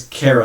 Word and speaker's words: Kara: That is Kara, not Kyra. I said it wrong.